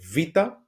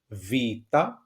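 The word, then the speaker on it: βήτα: second letter of the alphabet this is The vita vita it is pronounced and we have a very good example here.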